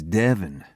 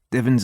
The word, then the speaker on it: Devon: This is Devon. Rhymes with heaven, but he's closer to the devil.